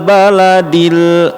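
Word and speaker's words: ٱلْبَلَدِ: Baladil, lanya pendek.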